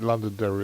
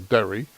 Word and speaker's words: Londonderry: Depending on what part of Ireland you come from, you either pronounce it Londonderry or Derry.